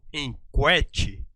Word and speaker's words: enquete: palavra enquete eu falo em quete pronunciando u não nesse grupo q eu não pronuncio a vogal u eu falo em Cat